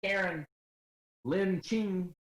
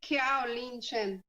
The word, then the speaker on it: Kiao Lin Chen: This book, thanks to Karen Lin Ching. How you say it, Karen? If I can do Piastra, yeah, I can do yours. No, my name is Kiao Lin Chen.